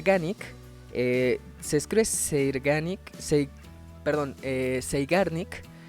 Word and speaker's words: Zeigarnik: se escribe seanic Perdón zeigarnik pero me parece que la pronunciación Debería ser saarn como como en Einstein este son alemanes así que bueno este Entonces el efecto zarnik eh dice que cuando